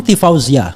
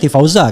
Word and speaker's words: Tifauzia: Ya, bukan Tifauza kan? Tadi saya Zia sebenarnya, tapi saya agak sembunyikan sedikit. Jadi Tifauzia Tia Suma, S-nya double ya kan? Nah, ini pronunciation betul tuh Tifauzia Tassuma. Benar.